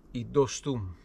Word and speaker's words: Dostum: bit about Dostum, or "Dostuum" as is the correct pronunciation in Turkish There is some emphasis at the word's end Anyway we'll just call in Dostum How this thing started...